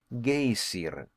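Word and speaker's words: Geysir: the waters the gayer a word the icelanders pronounce gazer and which signifies Fury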